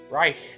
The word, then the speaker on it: Reich: Yeah, you should kind of pronounce it right. Reich. With a C-H like that. Like almost a hiss.